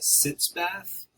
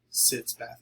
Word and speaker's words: sitz bath: It's spelled S-I-T-Z, sitz bath. It's actually shorter German word, I believe.